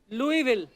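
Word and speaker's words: Louisville: Greg Fisher mayor of लुई विल Lewis बिले लुई विल तो ऐसा क्यों फिर लिखा है मेरे को बताओ आज आगे तभी बढ़ेंगे लुईस जब लिखा है तो स क्यों नहीं बोल रहे हैं जैसे नाइफ में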